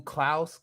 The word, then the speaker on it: Klaus: into like um like who klouse that's how they pronounce it in the movie who clouse was as